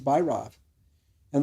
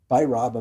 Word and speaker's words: Bhairava: Well, the B and the V are totally interchangeable, right? You're getting this good point. Amongst them, the V is not pronounced with a V. I mean, the V is not V, it's a B.